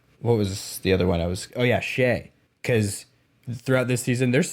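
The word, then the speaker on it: Shai: Shea. Because throughout this season, there's still people on broadcasts and podcasts right now that say Shy.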